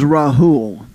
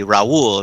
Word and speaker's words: Rahul: I mean, what happens is in school, right, sometimes they used to call me Raul, right, the Hispanic version of it, R-A-U-L.